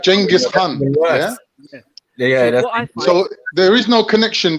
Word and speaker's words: Khan: no Kate in Khan h-a-n it means Lord of Prince it comes from the turkic I just typed in yeah so yeah but it's pronounced Han h-a-n but because the Turkish